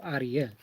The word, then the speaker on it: Ariel: is is is Ariel she's all well it's pronounced Adia I was like spelled